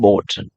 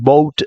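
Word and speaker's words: bought: அதுக்கெல்லாம் அந்த யூஜிஹெச் வந்து அது சைலண்ட். அதை ப்ரொனவுன்ஸ் பண்ணாதீங்க. ஏன்னா நிறைய பேர் இதையும் ப்ரொனவுன்ஸ் பண்ணி பவுட் அப்படிலாம் வாசிப்பீங்க. ஸோ அதெல்லாம் ராங்கான ப்ரொனன்சியேஷன். அப்படி வாசிக்கக்கூடாது. ஓகே.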